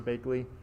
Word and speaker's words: Bakely: me professor that's fine it's pronounced like the words bake and lee so dr bakely but again if you